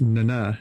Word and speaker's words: Nana: that took me by surprise was how to pronounce Nana Visitor's name. It's Nana.